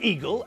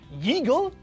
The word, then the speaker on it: eagle: Eagle begins with a vowel, and it's not pronounced yeagle, so that means we use "un" for those two.